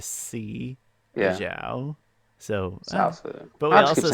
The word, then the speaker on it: Zaofu: I keep saying Xiaofu because that's the way Bryan pronounced it in the commentary.